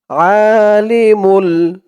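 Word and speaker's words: عالم: বলুন লা ইলাহা ইল্লাল্লাহ আলিমুল এখানে আ বলা যাবে না বলতে হবে কারণ এখানে আরবিতে হচ্ছে আইন আইনের উচ্চারণটা গলার ভিতর থেকে শক্ত হয়ে আসে আবার এখানে এক আলিফ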